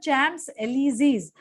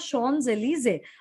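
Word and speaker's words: Champs-Élysées: मधला उच्चार आपण म्हणजे इंग्लिश मधलं स्पेलिंग पाहिलं तर ते होतं चॅम्प्स एलिझीज, पण खरा उच्चार आहे ह्याचा शॉन्स एलिझे.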